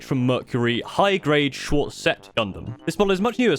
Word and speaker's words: Gundam: made in that video Gundam is pronounced Gundam not Gundam it didn't really sound